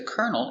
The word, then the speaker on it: colonel: He's a colonel in the army.